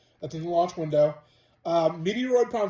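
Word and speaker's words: Metroid: you're probably wondering why I pronounce the game Meteoroid. I implore you to check out my friend Monado Max at his channel, Monado Max. And his friend Luke told him that game was pronounced Meteoroid.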